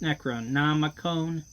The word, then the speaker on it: Necronomicon: I read this book, the Neutrino Nama Cons. Gregor, I think it's pronounced Necronomicon.